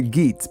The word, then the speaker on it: Geats: Some people say Geats, but I think it's Geat is the way it's pronounced. The Gates.